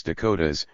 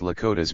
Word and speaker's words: Dakotas: They've called themselves Dakotas, pronounced Lakotas by the Tetons and Nakotas by the Yanktons, to signify that they were allies, or many in one.